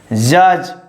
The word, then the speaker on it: judge: Judge. Silent letter is D.